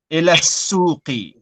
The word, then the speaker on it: إلى السوق: Again, remember, Zara, the scene is a sun letter. So you Oh, don't pronounce the lam. yeah. إلى السوق. Ila suqi.